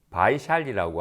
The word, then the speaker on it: 바이샬리: 기원정사입니다 그리고 오늘 등장한 한문으로는 비아리 성이라고 표기되어 있는데 요즘 인도식 발음으로는 바이샬리라고 하는 아주 번성한 상업 도시입니다